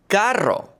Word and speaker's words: carro: vivir The double r is rolled. carro The double l makes a y sound in English.